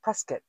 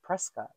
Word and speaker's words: Prescott: from Prescott presc somebody corrected me that it's pronounced presc looks like Prescot but presc we headed up north and we